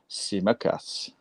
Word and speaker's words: Tsimikas: And I think that's why we've gone out and bought Tsimikas. I've said it right. Tsimikas.